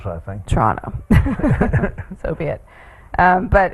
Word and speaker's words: Toronto: taking special care to Toronto. Yes. To annunciate. Um, there's only one T in her pronunciation and both the vowels are O's. I think Toronto.